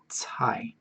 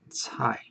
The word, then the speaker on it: 菜: It's a very hard to pronounce one. 菜 like T-S-A-I. 菜. Okay. 菜.